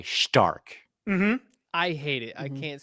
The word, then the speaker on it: Stark: on right now I there's no h in it why are they doing it dude yeah yeah it's how you say it in German Stark yeah you know what